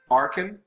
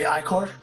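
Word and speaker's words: Ichor: Now, because of my Incendiary Arcan, is that how you pronounce that, Kenny? Incendiary Icor.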